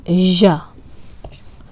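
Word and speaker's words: ژ: It is ja. Ja. Like French ja. Like je m'appelle. Je m'appelle Sara. So ja. Like in English, pleasure or treasure or television, like ja.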